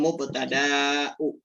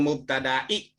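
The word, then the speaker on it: مبتدإ: Khobarul mubtada'u. Salah. Khobarul mubtada'i. Khabarul mubtada'i. Oh iya ya. Mudhof ilaih. Iya. Dan pakai alif lam mubtada'nya itu, dan jangan lama-lama membacanya. Jangan mubtada'i, jangan kelamaan.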